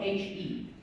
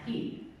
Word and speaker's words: He: You see, the phonetic structure of my name is spelled He, which in English would be pronounced he. But as I mentioned before, my name is pronounced He, which could be confused for the word her.